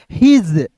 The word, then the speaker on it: his: हिज family, देखिए HIS, इसे पढ़ेंगे दोस्तों हिज नहीं पढ़ेंगे, इसे पढ़ेंगे हिज। यहाँ पे एस का उच्चारण स के रूप में नहीं करेंगे, ज के रूप में करेंगे।